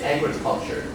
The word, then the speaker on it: agriculture: 这个地方会移到第一个音节，会 say agriculture.